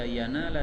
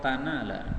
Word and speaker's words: ينال: Kemudian ayat yang kedua pada kata-kata layyanalallah, ini yanala boleh dibaca yanala dengan ya atau tanala dengan ta. Seluruh ahli qiraat membacanya dengan ya, yanala. Imam Ya'qub Al-Hadrami membacanya dengan ta, lan tanala, dan itu diulang lagi